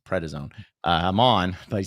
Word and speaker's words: prednisone: Prednisone. Thank you. I kept wanting to say Presidone. No, it's Prednisone.